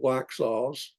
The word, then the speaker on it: Waxhaws: when the atrocities occurred at the Battle of waxhaws waxhaws is spelled w-a-x-h-a-w apostrophe s wax sauce uh the